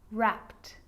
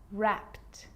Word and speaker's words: wrapped: it's its own syllable but a lot of the time that e isn't pronounced looked asked played baked wrapped now they could be